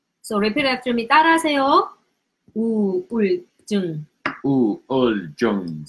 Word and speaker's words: 우울증: So when you read, each word is like this. Each syllable. 우. 우. 울. 울. 증. 증. It's not 증. 증. 증. But when you pronounce it, it's gonna turn into this double G.